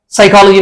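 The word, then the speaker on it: psychology: एक Japanese word है साइकोलॉजी में पी साइलेंट है जो कि ग्रीक वर्ड है और फ में एक्स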